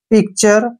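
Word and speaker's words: picture: पढ़ते हैं ध्यान रखिए यदि किसी शब्द में टी के बाद यू आर ई आ जाए तो टी को च पढ़ते हैं टी के बाद यू आर ई आए जैसे पिक्चर पिक्चर में टी के बाद यू आर ई आया है इसलिए टी को हमने च पढ़ा है पिक्चर तस्वीर जैसे फ्यूचर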